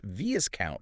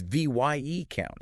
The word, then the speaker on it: viscount: That s is silent. So it's not viscount, right? It's v count.